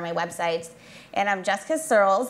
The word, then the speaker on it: Searles: And I'm Jessica Searles. It's spelled like curls, but with an S, just to keep it really simple for everybody.